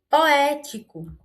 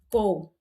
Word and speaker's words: poético: Poético. Poético. Perceba que eu puxei mais no E, né?